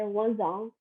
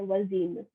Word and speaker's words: voisin: For a neighbor, if it's a male neighbor, you say voisin, and if it's a female neighbor, you say voisine.